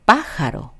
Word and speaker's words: pájaro: 자, 원래는 오로 끝나서 pájaro라고 읽게 됐을 거예요. 아센토가 없었다면. 자, 근데 어때요? 오로 끝나서 원래는 맨 뒤에서 두 번째인데 강세가 어디 있네요. 맨 앞에 있는 아에 아센토를 찍으면서 그 부분을 예외적으로 꼭 올려줘야 된다고 또 부탁을 하는 거겠죠?